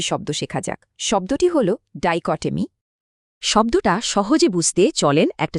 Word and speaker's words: dichotomy: উচ্চারণটা হবে ডাইকটমি, মানে দুটো ভিন্ন জিনিসের মধ্যে স্পষ্ট বিভাজন।